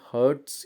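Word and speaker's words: hertz: हैं ए जड तो ये जो h जड है यह हर्ट्स इसको प्रोनाउंस करते हैं और यह साउंड की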